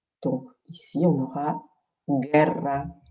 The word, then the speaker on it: guerra: Donc ici, on aura guerra. On ne prononce pas le U, mais il nous permet d'avoir le son G.